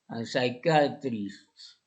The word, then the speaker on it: psychiatrist: psicólogos y atrás eh PS y eh la la y se pronuncia I psychologist psychiatrist mientras que en la